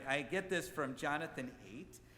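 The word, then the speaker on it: Haidt: get this from Jonathan eight his name I think is pronounced more like height but I think it's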